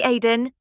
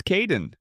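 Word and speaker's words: Kaeden: Hi, Aiden. It's Caiden. I'm so sorry. Don't worry. People often get my name wrong. They never know how to spell it. It's k a e d e n, in case you ever need to write it.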